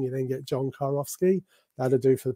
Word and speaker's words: Kurowski: so you have to visualize a guy called John in a car going off skiing you then get John car off ski that to do for